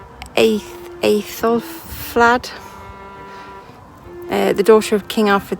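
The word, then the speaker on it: Æthelflæd: that, incorporates remnants of the church built by 900 AD by, I can never pronounce her name, Aethelflaed. The daughter of King Alfred the Great, I can't pronounce it. Aethelflaed and her husband Aethelred were rulers of Mercia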